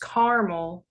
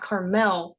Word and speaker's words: Carmel: That's Carmel, pronounced caramel like the candy, not Carmel like the town in California.